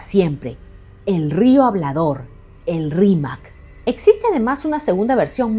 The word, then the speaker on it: Rímac: y a su río, no lograban pronunciar bien la palabra Rímac. La entendieron o la deformaron como Limac y posteriormente le quitaron la letra final y terminó siendo solamente Lima.